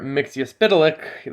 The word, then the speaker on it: Mxyzptlk: theories you uh subscribe to and uh mr mixiuspitelik that is how you pronounce it by the way uh from dc